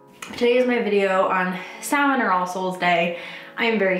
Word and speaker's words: Samhain: So Samhain, pronounced, spelled S-A-M-H-A-I-N, yes, is pronounced Samhain, not Samhain. If you're like me, you pronounced Samhain for a long ass time, but it is pronounced Samhain.